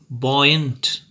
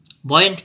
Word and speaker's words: buoyant: you why a and T can you try pronouncing it be O you why a and T buoyant buoyant means actually what point means is something which